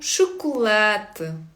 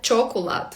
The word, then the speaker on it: chocolate: Ене у шоколет. У шоколет. Це наступне слово шоколад. У шоколад. У шоколад. Також помилка багатьох початківців читати чоколад. Ну, як в в англійській поєднання се та H.